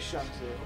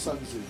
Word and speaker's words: Sun Tzu: I'll play a Shun Tzu. No. I like how 0-0-0-92. Yeah. Mr. Backscratcher of Death. Speed is the only thing that matters in this game. If I remember correctly, it's pronounced Sun Tzu.